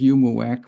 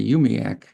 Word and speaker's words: UUMUAC: Our name and initials is UUMUAC, and it ought to be pronounced UMUAC, but that's hard, and so a lot of us say UMIAC instead.